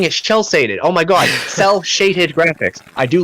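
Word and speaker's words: cel-shaded: Yeah, cell-shaded! Jesus Christ, Joe. Say it right. Shell-shading, that's what you keep saying. I keep saying shell-shaded.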